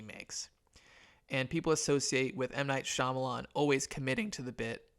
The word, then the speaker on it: M. Night Shyamalan: I understand I'm gonna I'm gonna just say it right for the record M Night Shyamalan good director here's the